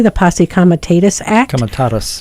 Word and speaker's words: Comitatus: In about 140 years ago, there was a law passed, and I hope I pronounce this correctly, the Posse Comitatus Act. Comitatus, thank you.